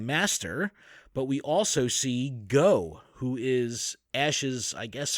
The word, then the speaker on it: Goh: become a Pokemon master but we also see go who is Ash's I guess friendly rival like typically you have you know your friendly rivals and your rival rivals it seems like he's got a good relationship with go and go is spelt G